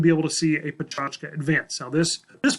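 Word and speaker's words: Pecha Kucha: Some of you might say, it looks like Pechakucha, Mr. Gallion, not Pachachka. Totally get it, but this is actually a Japanese word, and Pachachka is the closest way to pronounce it to English.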